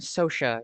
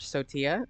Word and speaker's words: Sotia: So now also is that how you pronounce name? Sosa. Yeah, SOA is generally what I do, but I've also heard Sotia and I that's totally fine as well.